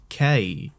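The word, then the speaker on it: Kei: funny thing is is it's not even case like K it's it's got a weird sort of inflection at the end because of the the eye uh which what you're pronouncing it in a Scottish accent doesn't really come across and it's hard to do it without sending like a bit of a dick um it's not quite Kai because Kai is also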